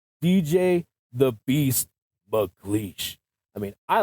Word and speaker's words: MacLeish: literally a beast and it kind of rhymes with mcash so why not dj the Beast mle I mean I like